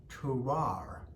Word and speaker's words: terroir: And this is terrible because the word I'm trying to pronounce is spelled Terroir. There's 3 R's in it. It's a French word.